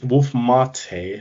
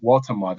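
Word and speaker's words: Woltemade: Wolf Marte, I think his name. I always forget how to pronounce it. Walter Marte, I believe it is. Walter Marte, that's it.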